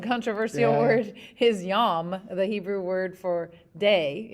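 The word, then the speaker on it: יום: And that's the Hebrew word is yom. And I thought, oh, that's interesting. Kind of rhymes with dom.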